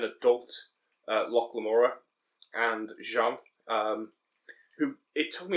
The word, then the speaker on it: Jean: was reading it and I kept reading it as Gene because it spelled the same way rather than the French Jean um so I was